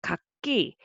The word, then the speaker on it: 갂이: And it is also kak as a single syllable, but together it will be kakki, because the carryover sound value is different.